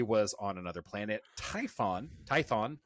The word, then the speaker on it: Tython: Tython, not Typhon. Damn it.